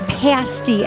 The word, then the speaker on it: pasty: I appreciate the fact you pronounced it correctly, too. I have been practicing that very diligently. It is pasty, everyone.